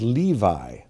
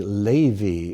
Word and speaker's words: Levi: this last one levy you know may know better as levi but it's actually levy in hebrew so that's the name